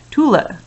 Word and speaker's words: Tule: Tule rhymes with coolie, Mike had noticed.